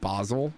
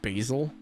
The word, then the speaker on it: Basel: ins of science I it kind of still bothers me that the name is pronounced bosil and not basil because I'm never going to be able to read it any other way so those guys at